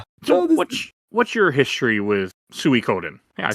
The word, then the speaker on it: Suikoden: What's What's your history with Suie Coden? I said it right. Yes. That's how I pronounce it.